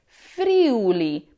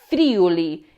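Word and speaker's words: Friuli: The correct way to say it is fuli putting the stress on the u.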